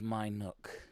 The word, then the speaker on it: Minuke: Yes, it's spelt Minuke. But it was My Nook.